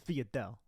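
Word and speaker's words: sfogliatelle: Uncle Silvio biting into a fresh sfiatelle. Italian purists, back off. That's how my family always pronounced it.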